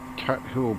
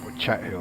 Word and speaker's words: Chat Hill: I mean, there's one thing there's no shortage of in Northumberland, it's farmland, but we have Cat Hill platform, or Chat Hill I should say.